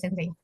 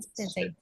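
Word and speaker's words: 先生: Ada lagi Sensei, kalau misal kosakata dari kami itu kan dia kan O-nya itu di double ya Sensei ya, tapi dibacanya nggak panjang Sensei.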